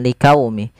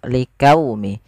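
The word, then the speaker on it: لِقَوْمِهِ: Liqaumihi, pada lafal liqaumi ini huruf qa ya, jangan liqaumi. Jangan diganti dengan huruf kaf. Liqaumihi enggak, tapi liqaumihi.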